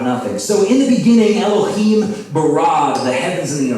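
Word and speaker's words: אֱלֹהִים: And in the Hebrew language, the word for God in the first verse of the Bible is pronounced Elohim. Say Elohim.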